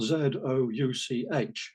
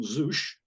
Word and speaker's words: Zouch: He's actually spelt Z-O-U-C-H, so there's a bit of choice about how you might pronounce. The most obvious thing might be Zouch, which is what my word processor would do if it knew there was such a word. I tend to put in couch quite often.